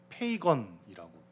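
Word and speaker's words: pagan: 무슨 뜻이 되냐면 뭐 그냥 이제 소리 나는 대로만 읽어 드리면 파간 파간우스에서 파간 영어 발음으로는 페이건이라고 됩니다.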